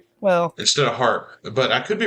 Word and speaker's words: Harp: their court description, uh actually spelled it H A R P. So, that makes me think that it was probably pronounced harp.